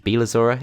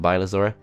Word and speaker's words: Bylazora: I think it's Bylazora it's pronounced, not Bylazora.